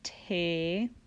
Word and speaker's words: Te: ends with an E the new solfege syllables end with the letter e which makes the sound a so T became teh LA became lait soul became say me became May and Ray which is